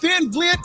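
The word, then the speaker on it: Van Vliet: try to be more like you unapologetically Chris Van vet is the happy go-lucky harmless daytime inter dude he butchered that name it's it's van vet van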